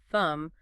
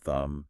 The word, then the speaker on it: thumb: Well, for instance, you'll notice that M at the end of a word, like in comb, lamb, thumb, almost always has a silent B, right? Comb, lamb, thumb.